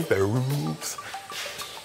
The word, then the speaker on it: ferrule: Ferrules. It's like jar rule. It's halfway between Will Ferrell and Jar Rule.